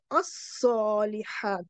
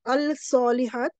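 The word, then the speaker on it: الصالحات: Lam shamsi means you will not pronounce the lam. You will say as-salihat, not al-salihat, as-salihat.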